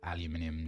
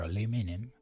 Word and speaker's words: aluminium: So, I've gathered the uh aluminium needed or aluminum if you're from that side of the pond. I suppose this is aluminum because that's how it's spelled as opposed to aluminium, which is how we spell it and pronounce it over here.